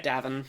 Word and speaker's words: Davin: Is it It's pronounced Davin, right? Yeah, Davin.